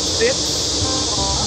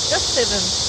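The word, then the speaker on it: sept: Sit. No. Step. You didn't pronounce the T. Oh. 7 years? Yeah. Oh. 7. Just 7.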